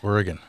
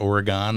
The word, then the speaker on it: Oregon: Oregon, okay. That's how you say it. Not Oregon? Nope.